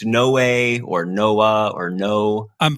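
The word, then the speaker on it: Noé: to go with like if it's no way or Noah or no I'm pretty sure it's no way oh good because that's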